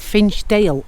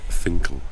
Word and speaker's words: Finchale: My first stop in Durham would be Fincher Abby. Actually spelled Finch Dale Abby. Actually, it's Finle Abby. Gareth, that's how you pronounce it.